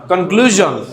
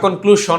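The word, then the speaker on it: conclusion: মনে হয় এটা কি কনক্লুজন কি বলতে হবে না কনক্লুশন বলবেন কনক্লুজন ভার্জন ডিভিশন ভিশন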